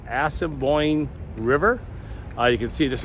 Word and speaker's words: Assiniboine: So another thing to do while you're in Manitoba is you can walk along the, I think it's pronounced Assiniboine River.